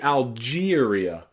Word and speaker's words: Algeria: So look at words like Algeria, Algeria. It's not Algeria, and it's not the long E either. We don't say Algeria, we say Algeria.